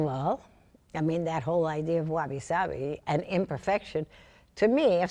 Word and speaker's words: wabi-sabi: Well, first of all, that whole idea of wabi-sabi and imperfection, to me, if something is perfect, it's dead.